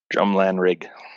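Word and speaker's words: Drumlanrig: of you who don't understand the Scottish language it's spelled drum g-r-u-m-l-a-n-r-i-g drum lanerg right drumland rig and rig yes anyway because I I spelled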